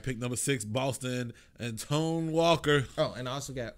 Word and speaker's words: Antoine: Antonio Walker. Antoine Walker. Is that what that is? Yes, yeah, it's pronounced Antoine, but you could, man.